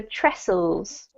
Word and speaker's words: trestles: table silent yes yes it's pronounced as if it just had SS in the middle so trestles restless mean it's the